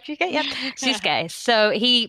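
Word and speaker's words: Sōsuke: Yep, Susuke. So he pronounced him by he called him by his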